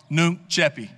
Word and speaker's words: Nunc coepi: Nunc Coepi. It's spelled N-U-N-C-C-O-E-P-I. And I know I can't quite put the Latin twang on it. It's more of an Alabama twang, but it gets the job done.